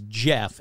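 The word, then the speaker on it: Gef: It's spelled the dumb way. It's spelled G-E-F. But it's kind of like, you know, GIF. Is it GIF or is it JIF? So I'm just going to say it's Jeff and not GIF.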